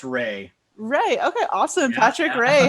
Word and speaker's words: Rea: patrick ria is it ria or reyes it's actually pronounced ray ray okay awesome patrick